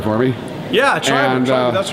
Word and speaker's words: Triberr: got coming for influence from Triberr, or you pronounce it correctly for me. Yeah, Triberr, that's right.